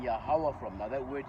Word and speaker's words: Yahawah: Now that word Yahawah has been transliterated and translated to, Jehovah and everything else. Okay, but we know that the original meaning and the original pronunciation of the word is Yahawah, meaning He is, He to be.